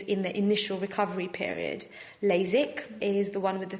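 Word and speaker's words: LASIK: types of laser treatment first of all is lasic which is spelled with an ik and the other one sounds exactly the same but it's spelled with a EK lasac and the difference between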